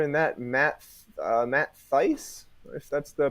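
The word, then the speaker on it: Thaiss: Moustakas uh other than that Matt uh Matt Theiss that's the pronunciation and Mickey okay yep yeah and then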